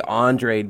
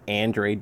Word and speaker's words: Andrade: I say Andrade, but I think it's Andrade.